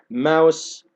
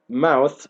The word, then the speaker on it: mouth: الأنهار with their mouth بنطق الث والسه لا بالبريتش أو هنطق وأقول mouse زي الفار، ولكن دي جمع بس شوية، فلكن طبعا الأفضل إن أنا عشان أفرقها عن كلمة فار إن أنا أنطق الث والسه mouth open بيجعلوا أفواههم